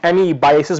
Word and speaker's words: amebiasis: आज हम डिस्कस करेंगे एमीबिएसिस को, जिसको कुछ लोग एमीबाइसिस भी प्रोनाउंस करते हैं।